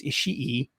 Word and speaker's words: Ishii: ishii with ishii actually i keep mispronouncing his name it's ishii and goto um he's